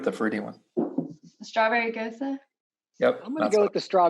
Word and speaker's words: Gose: A Gose.